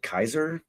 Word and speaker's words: Caesar: Which Kevin thought Kevin I my theory was that he was going to be Caesar or as they pronounce it Kaiser for some reason.